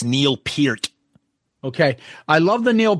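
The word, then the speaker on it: Peart: I love the Neil Per. Am I saying it right, Tom? No, it's Neil Pert.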